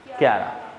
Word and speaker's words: Chara: और भी है, ये जो है ये थैलोफाइटा का ही है, क्यारा, प्रोनाउंसिएशन क्या है, क्यारा।